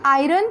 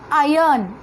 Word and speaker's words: iron: It is not iron children. You pronounce it as iron. Okay. R is silent over there.